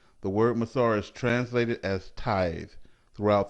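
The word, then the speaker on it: מעשר: its meaning from the hebrew word which is pronounced as masar the word masar is translated as tithe throughout the entire bible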